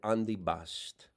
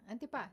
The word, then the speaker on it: antipasto: See, Americans would say antipuesto. My mother said andibast. yeah, antipasto. Andibast. Like that.